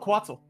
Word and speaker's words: Quetzal: How do you pronounce it? Coatl? Which one? Quetzal.